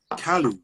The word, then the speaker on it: Kalu: I want to pronounce it right. Kalu, real Kalu.